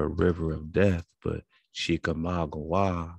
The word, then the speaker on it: Chickamauga: river of death but chica magua which still has the hawaii at the end because the ua is hua even that silent g wah like agua agua agua so it's all while